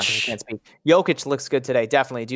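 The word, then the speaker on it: Jokić: Jokic is pronounced with a Y and not a J. Yes, Jokic.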